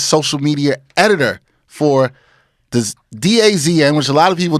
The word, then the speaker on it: DAZN: Are you saying DAZN? No, you said it right the first time. Everyone says Days In, you don't Holiday In.